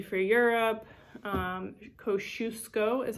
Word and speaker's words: Kosciuszko: e for l bruce e for europe um kosciuszko is how you say because she's going to